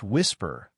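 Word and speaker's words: WSPR: The technology he zeroed in on is called Whisper, pronounced Whisper, short for weak signal propagation reporter.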